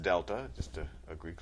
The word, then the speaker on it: delta: That triangle, which is pronounced delta, just a Greek letter, that means change.